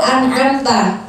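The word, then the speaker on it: أنعمت: Terus setelah itu an'amta. Mim huruf qalqalah atau tidak? Mim qalqalah atau tidak? Berarti bacanya enggak boleh an'amta 'alaihim. Nanti saking apa semangatnya sampai mimnya dikol-kolain. An'amta enggak. Jadi mimnya tadi bukan kol-kolah.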